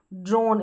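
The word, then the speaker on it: drone: डी आर जो है इसको ड्रॉ पढ़ते हैं तो ड्रोन हो गया, ड्रोन।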